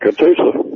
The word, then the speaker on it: Catoosa: So, Blaine, you're there on Route 66 in Oklahoma, Catoosa. Am I saying it right? That's correct, Catoosa.